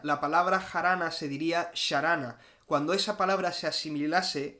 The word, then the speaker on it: jarana: siglo 16 siglo 1v esa palabra se escribiría con una x y no sería harana ni se hubiese pronunciado harana se habría pronunciado sharana lo cual no se